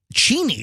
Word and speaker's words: Cheney: Cheney is the real pronunciation, but everybody, Roxanne, can you please stop distracting me?